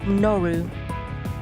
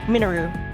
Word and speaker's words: Minoru: I believe it's pronounced Moru. Yeah, his name is Minoru. Sometimes I want to pronounce it Minu, but it's I think it's Minoru.